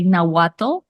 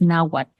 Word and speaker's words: Nahuatl: In this documentary, they say Nahuatl, and that's not how it's pronounced. The TL at the end is Nahuatl. It's just basically kind of a silent pronunciation of the T and the L.